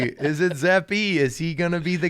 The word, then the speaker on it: Zappe: know everyone right now 73 rhymes with zeppy zeppy 73. is it zephy is he gonna be